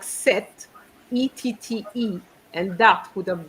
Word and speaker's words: cette: So remember, CETTE has the same pronunciation as seven.